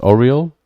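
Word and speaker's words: Aureal: heard uh oh real i think it's pronounced oriole i i assume a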